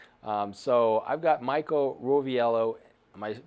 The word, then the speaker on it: Roviello: treat for you um so I've got Michael roell am I pronouncing that correctly said it right okay um